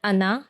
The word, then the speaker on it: Hannah: Hi, I'm Hannah, and people in France call me Anna because they don't pronounce the H.